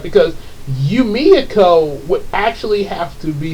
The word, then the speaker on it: Yumeko: first wrote the word Yumeko, I kept pronouncing it Yumeko. But then I heard EJ, he pronounced it Yumiko, and I thought about that because I remember we were talking about it.